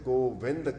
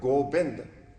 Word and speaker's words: Govind: Guru Maharaj reveals in the Hukamnama today, Naam kahat Govind ka. Word Gobind has come in two ways in Gurbani. With the Baba, Gobind. But in today's Hukamnama, it is pronounced with Vawa, Govind.